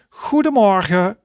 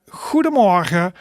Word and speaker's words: goedemorgen: But for example, we can say goedemorgen, goedemorgen. And that means good morning, right? And that is like 3 syllables. So that would be goedemorgen, goedemorgen. Okay, right, good. So after goedemorgen, after good morning, we of course also a good afternoon.